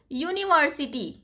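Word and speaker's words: university: और देखो यूनिवर्सिटी, यूनिवर्सिटी हो गया, हम लिखते कैसे हैं इसको, यूनिवर्सिटी, या से लिखते हैं, है ना, भले यहाँ पे वॉवेल है लेकिन प्रोनाउंस कैसे कर रहे हैं, या से कर रहे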